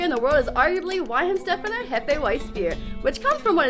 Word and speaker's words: Weihenstephaner: Whoa, and wait, how do you pronounce it though? Weihenstephaner.